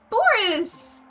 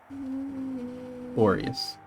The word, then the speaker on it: Boreas: I mean, it's you got it right, just minus one syllable. Yeah. It was... Oh, it's Boris! Boreas. Yeah. You got the wrong syllable, but you got it basically right. I was gonna say Boliaris.